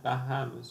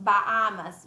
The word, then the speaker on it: Bahamas: Even then, Bahamas. Yeah, we don't pronounce the. That's the thing. Bahamas. You see the H. Yeah, the H, the glorious H. Yes, it's as if it wasn't there.